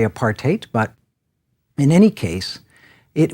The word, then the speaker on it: apartheid: heard it many times often pronounced apartheid or what-have-you technically apart eight but in any case